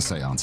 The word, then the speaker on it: séance: The seance has brought a great many visitors, it's true.